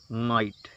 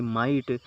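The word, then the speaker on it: might: next word है अपना एम आई जी एसटी इसको क्या पढ़ेंगे माइट उच्चारण जरूर ध्यान रखिए कि इसको पढ़ेंगे क्या तो एम आई जी एस टी तो इसको क्या पढ़ेंगे माइट इसका हिंदी अर्थ होता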